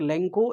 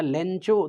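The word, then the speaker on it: Lencho: अच्छा, through out the morning लेंको, यहाँ पर लेंको या लेंचो दोनों प्रोनाउंसिएशन अलग अलग जगहों पर मिलेगा इसका।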